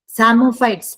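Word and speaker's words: psammophytes: Opuntia Opuntia is an example of सेरोफाइट then सामोफाइट्स P silent होते हैं सामोफाइट सामोफाइट्स means growing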